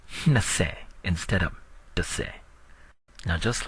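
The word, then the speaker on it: နှစ်ဆယ်: is pronounced by linking the word for 2, hne, and 10, se, but you don't say hnise, you say hnase. So let's try this. 20, hnase. 20, hnase. One more time. 20, hnase.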